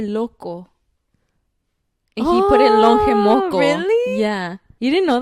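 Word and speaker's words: Lonje: It's longe moco. How do you spell it?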